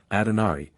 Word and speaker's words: Adonari: The Hindu goddess Adonari, or as it might be more properly written, Adonari, since the second A is pronounced almost like the English O, is represented as surrounded by the same figures.